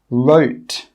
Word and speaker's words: wrote: Some common examples are right, wrote, wreck, wrong, rap. In all of these words, we're not pronouncing the W sound.